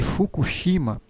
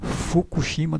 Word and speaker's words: Fukushima: faz a pronúncia tá o japonês ele fica com o Lábio um pouco mais aberto entre aberto Então esse furo aqui não é bem o furo do jeito que a gente fala é uma mistura de R com r com f Então você abre Geralmente os lábios e faz a pronúncia então é um F um pouco meio assoprado digamos assim Então esse esse